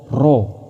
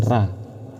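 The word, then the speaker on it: ر: Ro ini kan fathah. Fathah pasti dibaca o. Ro bukan dibaca ini. Bukan dibaca rabaca apa? Ro. Diingat ketujuh huruf ini. Ro. Cara membacanya seperti ini. Ro bukan ra.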